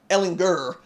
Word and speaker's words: Ehlinger: Islanders name talked about it's a Ehlinger with the hard G you have to be